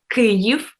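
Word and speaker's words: Kyiv: how do you spell kiev uh well in ukrainian it's uh it sounds clear and you spell it k y uh i v okay that's why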